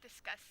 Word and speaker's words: Disqus: it's pronounced discuss though.